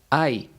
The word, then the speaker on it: hay: Las 2 siguientes se pronuncian ay, pero se escriben de forma totalmente distinta.